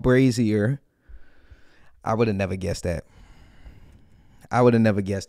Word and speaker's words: Brazzier: the comments I guess the song is called brazier I would have never guessed that I would have never guessed that I'm over here saying braier I I and I told myself I told